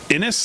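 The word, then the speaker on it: Xinis: is this Judge Paula Innis, I guess is pronounced. Maybe the X is silent.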